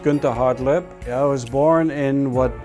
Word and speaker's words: Gunter Hartleb: My name is Gunter, properly pronounced Gunter Hartleb.